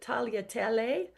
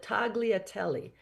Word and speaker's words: tagliatelle: He would have pronounced it tagliatelle. Probably I pronounced that incorrectly. Sorry, Pierre. We call it tagliatelle.